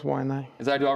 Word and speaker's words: Waianae: So I say Y&I. Yeah. What's the right way to say it? Oh, it's Y&I.